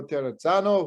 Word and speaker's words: Terrazzano: I was told a lot of times the double Z is like pizza.